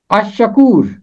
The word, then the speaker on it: الشکور: کی آواز خاموش ہے۔ الشکور، یہاں بھی لام کی آواز خاموش ہے۔ تو یہاں پر الف